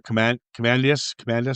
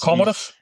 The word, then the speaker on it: Commodus: Commandus, whatever his name is. Commodus. Commandus. See, they pronounce. I see Commandus, but it's pronounced something different.